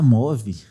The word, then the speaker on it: Move: Eu imaginava que era Move. Não, é Move de movimento.